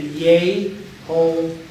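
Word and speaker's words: יהוה: But the pronunciation is steadfast. It has always been Yehovah. Yehovah.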